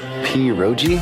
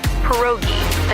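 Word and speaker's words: pierogi: Periro. Did I pronounce that right? It's pronounced perogi. A tasty dish like dumplings.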